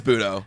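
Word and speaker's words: Butto: I don't even know how to say his name. Oh, it literally is Budo.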